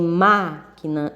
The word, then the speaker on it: máquina: Porque em câmera o som representado pelo A é fechado. Em máquina ele é aberto.